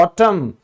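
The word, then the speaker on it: autumn: जैसे पतझड़, इसको हम कहते हैं ऑटम, क्योंकि ये साइलेंट है।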